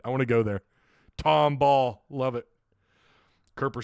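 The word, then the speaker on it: Tomball: legit Tom Ball Tom it is Tom ball that's how they pronounce it Tom Ball thought it was t t like the Tom tomall or tomb ball tomb ball Tom Ball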